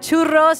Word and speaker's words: churros: We got lemonade, we got churros. You gotta roll your R when you order it.